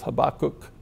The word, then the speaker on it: Habakkuk: I've checked different pronunciations, you know, so I'm going to stick with Habakkuk.